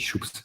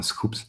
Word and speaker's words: Schoops: Alors j'avais mal prononcé, j'avais dit Schoops, mais donc c'est bien Schoops.